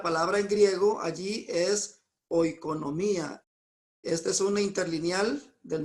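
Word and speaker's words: οἰκονομία: Aquí vemos que se pronuncia oikonomía, pero si usted ve aquí la definición de esta palabra es administración y entre paréntesis de una familia o propiedad.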